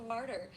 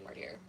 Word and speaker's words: martyr: And like obviously I know this is martyr, but excuse me if I say martier because that's just my brain.